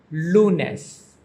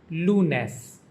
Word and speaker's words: lunes: Monday is pronounced lunes, lunes.